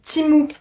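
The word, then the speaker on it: Temu: timou donc voilà et oui ça se prononce timou voilà ça sécrit temmu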